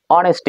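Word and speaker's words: honesty: The teacher said to the girl, do you think that অনেস্টি, এটা হনেস্ট বলা যাবে, এটাকে বলতে উচ্চারণ করতে হবে।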